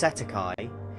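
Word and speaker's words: cestui que: In New Zealand and Australia, this is commonly referred to as cest tuiquy trust, pronounced setti.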